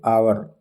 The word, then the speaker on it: hour: So here you have to write H is consonant, but pronunciation H is silent hour. So he is an hour late.